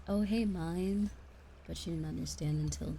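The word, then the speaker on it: Myne: the main character's name so urano has become mine and it's spelled m-y-n-e instead of like mine like Minecraft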